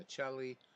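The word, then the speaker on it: Miceli: So, Dan Machelli, I'm gonna call him Machelli because that's how you say it in Italian.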